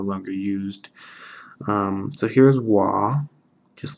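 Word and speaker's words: は: going to need really soon in grammar it's pronounced wa even though this is wah if this is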